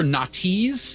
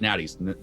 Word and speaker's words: Natty's: They'd be like, "Is this parking for Natties?" And I'm like, "You're trying too hard. It's not that difficult. It's Natty's, real easy."